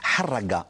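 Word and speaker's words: harraga: Il faut le prononcer en arabe avec la griffe de son H qui racle la poitrine, de son caverneux, de ses A qui ouvre la bouche en porte-voix pour un vacarme assourdissant. Le râle du R qui essouffle les poumons desséchés.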